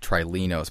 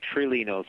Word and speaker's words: Trilinos: for a number of months now calling it trilinos but i guess that's not actually the correct way it's pronounced how is the package actually pronounced uh we tend to say truly notes but certainly there are others who pronounce it